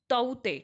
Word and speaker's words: Tauktae: तो ये नहीं है इन साइक्लोन ताउते, ठीक है। तो इसको के जो यहाँ पे है, के इज साइलेंट, ठीक है। तो इसको ताउते पढ़ेंगे।